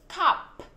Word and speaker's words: cup: Cup, đúng không? Cup. Con khạc hơi mạnh cái âm k cho cô, chứ không phải là cắp cắp, không phải ca ca nhá, đúng không?